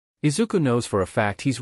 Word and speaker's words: Izuku: Izuku stopped and looked back to Zashi to see them look ridged.